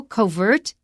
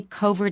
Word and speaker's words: covert: Covert is correct, but if you have another word after it with a stress, you will often move the stress to the first syllable.